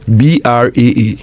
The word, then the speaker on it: Braa: Yeah, so Braa on all social media handles. My bra is not the bra that the ladies wear. But spell it. Braa.